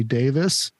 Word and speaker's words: Davies: but uh it was written by Mr Ray Davis and a lot of people think his name is Davies but it's actually pronounced Ray Davis from The Kinks and it's l-o-l-a Lola that